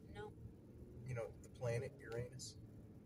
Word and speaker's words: Uranus: You got Klingons near Uranus. You never heard that joke? No. You know, the planet Uranus? It's actually pronounced Uranus, but, you know. Yeah, the way you were saying it, Uranus instead of Uranus.